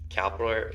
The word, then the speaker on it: Calipari: happened in the offseason, is the Kentucky coach Calipari.